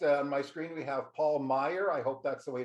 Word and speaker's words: Paul Meyer: And next on my screen, we have Paul Meyer. I hope that's the way to pronounce it, Paul.